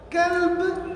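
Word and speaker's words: كلب: A pessoa está a ler o Corão, se não consegue diferenciar entre o Kaf e o Kof na pronúncia, Kaf, Kof, Kalb, Kolb. Então, em vez de dizer coração, está a dizer cão. E em vez de dizer cão, poderá estar a dizer coração.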